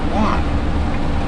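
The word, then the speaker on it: yuan: something underneath the one the correct pronunciation okay y-u-a-n one one it's almost like the spanish word for john juan well that's j-u-a well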